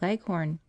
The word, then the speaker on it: Leghorn: shanghai's and the white leghorn phoebe when she pronounces this word leaves out the h embarrassing heavily on the last syllable so that it rhymes with begone as i was sitting